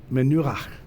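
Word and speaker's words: מנוחה: But the goal in the progression is this menu. Again, you got to have something in the back of your throat if you want to get that last syllable in Hebrew. The pronunciation's on the center syllable.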